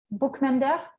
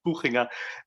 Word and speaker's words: Buchinger: We have a hand from Sebastian Buchmender. Yes. Yeah, thank you very much. It's Buchinger, but yeah, it's hard to pronounce.